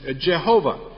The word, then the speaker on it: Jehovah: some old English Bibles they actually used the German pronunciation of this name in the name is Jehovah Yahweh and Jehovah are exactly